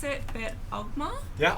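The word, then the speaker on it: Oghma: was reading the tome of, I can't pronounce it, but Ogma. Yeah, Ogma.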